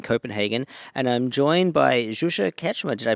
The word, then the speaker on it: Zsuzsa: cxm here in Copenhagen and I'm joined by zusa ketma did I pronounce that right yes yes it is pronounced